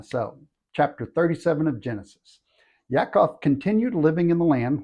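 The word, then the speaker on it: יעקב: is the history of Yakov which is Jacob that's the Hebrew pronunciation when Joseph was 17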